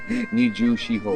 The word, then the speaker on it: Nijushiho: Nijushiho.